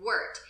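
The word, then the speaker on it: wort: be left with a liquid that is called Wirt it spelled wor T it's pronounced work like dirt the work is transferred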